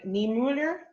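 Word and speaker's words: Niemöller: this quote uh by martin niemuller is that how you say that um yeah okay so i said it right okay i took german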